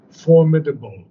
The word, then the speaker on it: formidable: people pronounce it able but in English it's pronounced formidable formid formidable okay yes so not able and